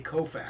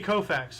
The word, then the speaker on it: Koufax: in four years okay you have to pronounce it right Sandy Kofa Sandy Koufax I'm sorry my favorite